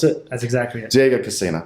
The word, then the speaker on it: Diego Cassina: Is that how you pronounce it? That's exactly it. Diego Cassina.